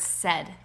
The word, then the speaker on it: said: doesn't fit and that's the word said it sounds like it rhymes but set is spelled very differently than it sounds so said won't work